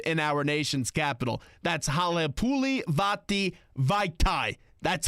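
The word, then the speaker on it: Halapoulivaati Vaitai: That's Halepuli Vati Vaitai. That's how you pronounce it.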